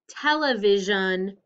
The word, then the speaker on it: television: same as mansion but it doesn't say shun it says s-i-o-n television john it's got the z sound going with the s okay let's practice i'm